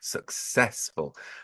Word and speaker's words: successful: very high frequency word successful and clearly the stress is on the second syllable there I want to